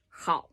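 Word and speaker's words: 好: but it's how it's a tight syllable how and you don't slide through the middle you can't have to kind of appear and disappear from the beginning to the end without smearing in the middle it's not how just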